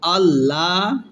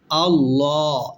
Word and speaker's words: الله: Allah, law heavy. Allah is wrong. Allah, it's correct. Allahus samadu. Allahus samadu. Samadu. Waqf is Allahus samad.